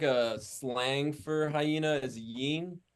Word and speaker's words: Hyeena: And that's how you say it, right? Yeah, Hyena just fucking just threw a extra E in there, uh, just to have it be its own thing.